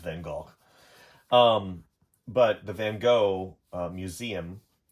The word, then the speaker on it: Van Gogh: It's actually pronounced Van Gogh.